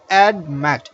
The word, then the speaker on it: admit: so now look at listen to the pronunciation of the word admit add Matt there are two or syllable it's a two syllabic world but the stress falls on the last syllable Matt stresses on this so therefore the last